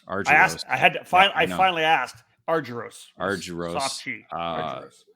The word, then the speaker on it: Argyros: Argyros.